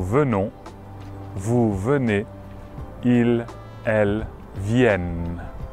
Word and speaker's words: viennent: vous venez, ils, elles viennent. Attention à la prononciation, quand on a un E suivi de deux consonnes, on ouvrira le E, donc viennent.